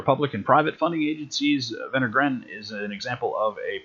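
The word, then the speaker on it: Wenner-Gren: and private funding agencies vendor grant is an example of a private funding agency that's the one that begins with the w it's pronounced with v venegran and that is to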